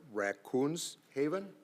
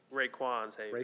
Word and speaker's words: Raekwon's Haven: The applicant did, and correct me if the pronunciation is wrong, but Raccoons Haven? Raekwon's Haven. Raekwon? Yes.